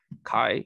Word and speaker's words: chi: so there is this x uh or chi so i should pronounce this chi uh such that this